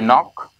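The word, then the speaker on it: knock: है करना पड़ेगा कि के के बाद में अगर एन का यूज करते हैं तो के साइलेंट हो जाता है। फॉर एग्जांपल हमारे पास कुछ वर्ड हैं जैसे नो, जैसे नॉक, जैसे नाइट, राइट?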